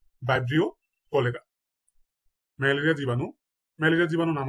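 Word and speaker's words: Vibrio cholerae: তাহলে হিবিস্কাস রোজা সিনেন্সিস ভিডিওটা কয়েকবার দেখবেন তাহলে উচ্চারণ গুলো ঠিক হয়ে যাবে ইনশাল্লাহ কলেরা কলেরার জীবাণুর নাম হচ্ছে বাইব্রিও কলেরা বাইব্রিও কলেরা ম্যালেরিয়া জীবাণু ম্যালেরিয়া জীবাণুর নাম হচ্ছে প্লাজমোডিয়াম বাইবেক্স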